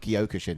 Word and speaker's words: Kyokushin: um oh this is a tough one to pronounce but it's a kaio kushin it's a karate sword kyokushin there you go this is better than i